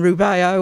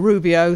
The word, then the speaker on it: Rubeo: Is Benton Rubeo, or Rubio, spelled R-U-B-E-O. In here it's spelled with an I, and it was his McCaw.